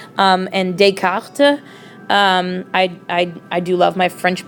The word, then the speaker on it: Descartes: if you want to make sure that you pronounce it correctly. And Descartes, I do love my French pronunciation.